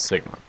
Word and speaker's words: sigma: the little o with a tail which we pronounce Sigma so these are both Greek letters MU and